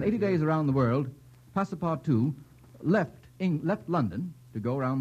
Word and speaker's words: Passepartout: Passepartout. Passepartout. P-A-S-S-E-P-A-R-T-O-U-T. Mr. Kieran, my spelling is correct. Spelling is correct and pronunciation is beautiful.